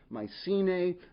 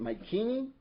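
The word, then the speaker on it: Mycenae: by the way I I consistently and somewhat intentionally mispronounce my C to be authentic I should be calling it my keini but I'm just not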